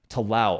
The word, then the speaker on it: tallow: Tallow. Oh, beef tallow is how it's pronounced.